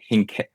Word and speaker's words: Hincapie: Um and it's owned by George Hincapie. I can never pronounce his name right. Uh Hincapie, I believe is how it's pronounced. I always pronounce it wrong.